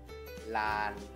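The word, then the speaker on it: ล้าน: Lan. Lan. Tapi dikasih tanda baca Maito. Jadinya siang apa? Siang tri. Karena apa? Loling ini adalah aksara kelas rendah. Saat dikasih Maito, maka nadanya akan siang tri.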